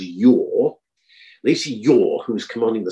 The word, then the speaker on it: Yea: Lacey Yea, Y-E-A, who for reasons best known to himself pronounces his name as Yaw.